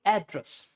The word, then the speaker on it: address: When it's noun, it's called address. Stress is on the a. Address means pata. मेरे घर का address ये है. You have to say address because this is the stress portion.